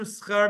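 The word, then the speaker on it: שכר: First of all, you're not pronouncing it right. Two, you're mispronouncing it in a terrible way because you're actually changing the meaning of the word. Leman sheyeh lanu schar mitzvot.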